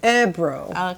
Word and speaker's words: Öbro: Oibro? Oibro. Oibro. So when you have an O with two dots over it, it's Öbro.